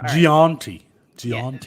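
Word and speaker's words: Jeanty: Gianti.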